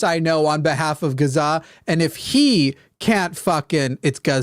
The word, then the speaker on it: Gaza: even not it's not Gaza people it's Gaza Gaza Gaza technically it's like if you're Arabic I'm trying to do